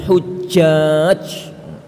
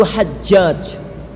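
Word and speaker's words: حجاج: Tulisannya dia itu bacanya wahadza ma fa'alah hujjaj. Ini yang dilakukan oleh orang-orang yang haji. Lalu dia terangkan panjang lebar tentang masalah haji. Ngacau baloh keterangannya. Kenapa? Itu bukan Hujjaj, itu Hajjaj.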